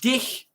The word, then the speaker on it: dich: Dick means fat, but dich, you don't pronounce the end.